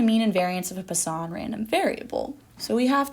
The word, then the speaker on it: Poisson: for a given mean the Poisson that is how you pronounce it random variable has the